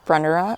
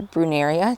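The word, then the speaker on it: Brunnera: I did a row of Brenda or bruneria depending on where you're from depends on how you pronounce it I just love that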